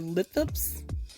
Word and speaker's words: Lithops: I think they pronounce it lithops, Lithrops, I believe.